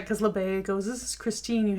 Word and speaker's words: LeBay: And, he goes inside with LeBay. That's how you say it? LeBay?